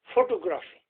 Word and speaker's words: photography: I said that in photography okay Hussain I can't understand what you're saying oh Sam photography not a photography photography but he is putting the syllables and the stresses on the wrong places photography photography foreign foreign